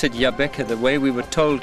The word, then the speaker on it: Jabbeke: Africa that's that's correct and I see you pronounce it Yaba the way we were told to pronounce it it's not jaab it's y yeah it is this is John